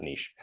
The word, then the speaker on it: niche: Okay, niche specialization, or niche. I pronounce it niche.